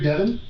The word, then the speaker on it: Devan: you everything no not there um you're Devon yes am I pronouncing that right yes I'm Steve you can